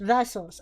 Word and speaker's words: Thassos: No, it's like a D in Thassos. Thassos. Ah, okay. Oh, yeah, that's right. Thassos. But it's not a T either.